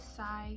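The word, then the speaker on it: Cai: the white flowers also i looked up how to say juliet's last name it is psy just a brief little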